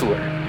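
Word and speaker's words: Altair: The brightest star in Aquila is pronounced Altuur.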